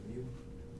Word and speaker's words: mu: What happens if you put instead of mu, the mu, like the I don't know how to pronounce it.